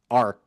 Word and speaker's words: art: Um I'm going to remind you that in English, of course, we might pronounce this letter T in the end of a word like art, but it's not mandatory.